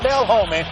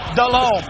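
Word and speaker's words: Delhomme: he can't pronounce it it's not Dale Holman it's Jake delone to Ricky Pro 62-yard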